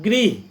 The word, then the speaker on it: गृह: जैसे मैं एक शब्द बोलता हूँ गृह, गृह माने घर होता है, और इसी को गृह को यदि हम ग्रह कह देंगे तो ग्रह का मतलब हो जाएगा, ग्रह शब्द के उच्चारण में एकदम सूक्ष्म भिन्नता है। गृह और ग्रह दोनों में थोड़ी सी की भिन्नता है।